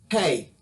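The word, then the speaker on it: ה: sound next you have hey hey hey makes the puff sound like in pain in paper hey and it has a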